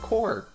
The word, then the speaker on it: corps: did not, is that corpse is pronounced core when there's an S on it. It's not corpse, it's core. So Blast Corps.